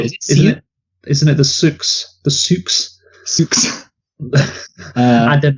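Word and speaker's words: Sioux: Isn't it the Souks? The Souks? Souks. I don't know. No, yeah. I think it's actually just pronounced Sue, even though it's spelled weird.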